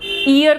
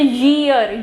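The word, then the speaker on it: year: Mostly ईयर को हम ईयर बोलते हैं, है ना। जब भी हम बोलते हैं इट्स ईयर 2017 ईयर बोलते हैं, बट ये करेक्ट प्रोनाउंसिएशन नहीं है। इसकी करेक्ट प्रोनाउंसिएशन है ईयर, य से ईयर, ठीक है, इस तरीके से। अब मेरा शुरू कहाँ से हो रहा है? य से शुरू हो रहा है, तो य से शुरू होगा तो मेरा क्या आएगा?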